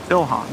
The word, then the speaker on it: Ilhan: Well, she's Yeah, you'd be surprised how often Elon Omar. Ilhan. I don't like her. Oh, is that Am I saying it wrong?